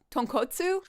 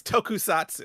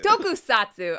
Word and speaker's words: Tokusatsu: We are going to have a tone Is How do you say it? Tone co- Tonkotsu? No, it's Tokusatsu. Tokusatsu.